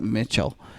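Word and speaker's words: Michele: Bob Mitchell I think I think they pronounced him Mitchell I don't think it's pronounced it's spelled like Michelle but it's like I think he's print as he pronounces it Mitchell he had a bold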